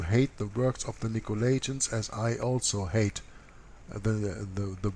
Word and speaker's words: Nicolaitans: Now this is a little bit different writing here, but Nicolaitans is the way that you pronounce this.